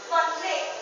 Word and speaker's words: conflict: any way so the the word is conflict the last syllable was uh put a stress and so it became a verb so in here the